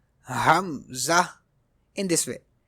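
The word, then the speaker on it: همزة: Next letter is hamza. Hamza in this way. It is pronounced from the bottom part of the throat.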